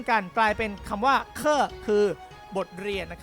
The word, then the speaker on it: 课: พูด ป้าง โอเค ครับ ตัว นี้ ครับ อ่าน ว่า เคอะ แปล ว่า resin บท